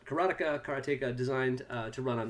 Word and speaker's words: Karateka: was known for for this game karateka or Karnataka I think the former is the correct pronunciation and when you started